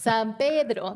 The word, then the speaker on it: San Pedro: San Pedro. That's how it's said. It's a Spanish word.